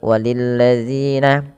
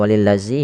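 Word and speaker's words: وَلِلَّذِينَ: Pada lafal walilladzina, hati-hati dalam lafal dzal tidak diganti dengan walillazi, ya. Jadi kita harus hati-hati, diulang-ulang terus bagaimana cara membacanya, yaitu ujung lidahnya nempel dengan gigi seri atas, ya.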